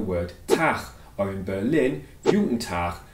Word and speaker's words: Juten Tach: Tag, or in Berlin, Guten Tag, which reflects the regional pronunciation of the German Guten Tag.